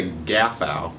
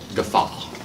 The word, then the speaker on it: guffaw: What is a gaffow? Gaffaw. A loud, boisterous laugh. I don't get it. Why are we laughing? I don't know. Guffaw. Look up how to pronounce it, because now it's gonna It's guffaw. Gaffafi?